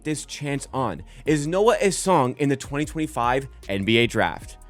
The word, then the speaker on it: Essengue: How I would pronounce it looking at it is Noa Essengue. If that's incorrect, I apologize